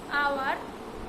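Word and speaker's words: hour: এখানে আমি যদি বলে দেই কিছু শব্দ যেগুলো এইচের উচ্চারণ এইচের মতো হয় না, তাহলে সেটা হচ্ছে অনেস্ট, আওয়ার, তারপরে হবে অনারেবল।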